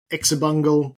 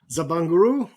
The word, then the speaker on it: Xabungle: horrible remakes of the xabungle or if you want to pronounce it almost remotely properly it's Zab bangaru and Blu Gale so